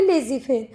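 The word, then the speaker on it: laissez-faire: ये जो वर्ड लिखा है इसको कैसे प्रोनाउंस करोगे? लेजी फेयर. ये किस भाषा का वर्ड है? तो बेटा ये फ्रेंच लैंग्वेज से लिया गया है. फ्रेंच फ्रेज है.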